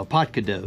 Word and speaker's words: APTKDOE: There you go, a Potadakao. That's what I was told how you pronounce this.